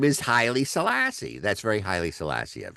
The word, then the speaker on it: Haile Selassie: his name is Haile Selassie.